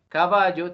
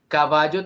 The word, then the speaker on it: caballo: de palabras graves es la palabra caballo caballo tiene acento prosódico en la penúltima sílaba que es el fonema